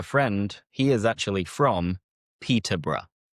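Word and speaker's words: Peterborough: He is actually from Peterbr. Peter, bruh. So, just think bruh. That is the message that you have to remember.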